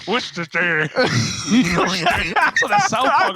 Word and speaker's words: Worcestershire: I don't even want to try and pronounce what you just said. Worcestershire. That's what the South Park guys. Worcestershire.